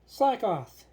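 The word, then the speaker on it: Slakoth: Okay, Slackoth. Rhymes with Jackoff.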